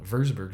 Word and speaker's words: Würzburg: verge of warsburg school verseburg school would actually be the right way to say it but the wurzburg school we are starting